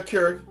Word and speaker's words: Keurig: Yeah, Keurig.